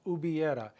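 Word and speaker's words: hubiera: subjunctive of a it's uera the H is silent h u b i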